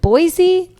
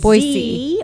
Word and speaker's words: Boise: Do you pronounce it Boise? Absolutely not. It is Boise or Boise.